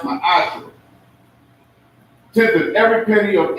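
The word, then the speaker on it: מעשר: Means tenth in the Hebrew and is pronounced ma'asher.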